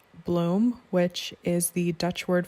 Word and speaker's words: bloem: this one is called bloem which is the dutch word for flower and is pronounced just like the word bloom and this one is